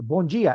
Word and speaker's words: Bom dia: Bom dia.